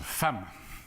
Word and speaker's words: femme: des écoles lui dit fe2 m eux se prononcent femme qui a sondé mais ya pas de adam femme a bien vu c'est exact mais c'est comme ça le e de femmes se prononce à l petit garçon se